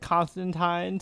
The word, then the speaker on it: Constantine: I never know which way you're supposed to pronounce it. I know British people pronounce it Constantine. So if you're reading an actual Hellblazer comic, you pronounce it Constantine. But this feels more like a this interpretation feels way more like the New 52 version of John, which I pronounce as Constantine to to, you know, make a distinction.